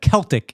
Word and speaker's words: Celtic: Uh but I do know that Celtic is pronounced Celtic and not Celtic.